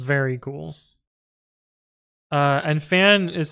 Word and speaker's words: Fan: But It's cool because when Fan introduces himself, he's like, "My name is Fan. Like I am a fan of," and then he waits for you to say your name, which is so sick.